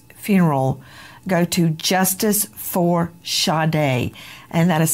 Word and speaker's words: Sade: fundraiser for shade's funeral go to Justice for shade and that is spelled s a d like you would say